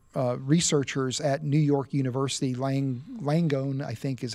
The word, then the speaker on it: Langone: And so a team of medical researchers at New York University, Langone, I think is how you pronounce it, Health Center, approached his family and